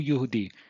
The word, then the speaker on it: Yehudi: So this part here says, "V'lirot ba'amidu divrei Mordechai ki yegil lahem asher hu Yehudi."